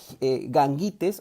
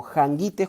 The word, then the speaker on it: Gangites: Entonces se encontraba en la llanura fértil bañada por el río Gangites o Jangites, como algunos pronuncian, cerca del camino que